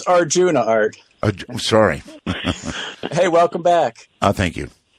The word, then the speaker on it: Arjuna: Well, it's Ajuna, right? Yeah. It's Arjuna, just like the classic Indian myth.